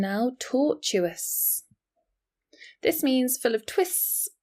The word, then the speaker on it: tortuous: Different pronunciation now. tortuous.